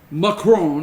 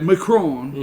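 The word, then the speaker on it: Macron: at the president let me just say something McCrone you gotta say it like that McCrone amanda aiton all right amen they was McCraw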